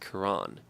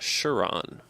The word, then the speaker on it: Charon: if you're talking about the Greek deity it's pronounced Quran Pluto also has a moon of the same spelling slash name but the moon is pronounced sure on Israel it appears that when we were struggling